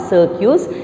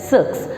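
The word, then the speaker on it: cirque: one is six c-i-r-q-u-e is pronounced that no as not circus it is pronounced as sucks so what is this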